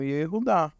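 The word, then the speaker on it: יהודה: Então, na verdade, o nome é esse mesmo, Yehudá.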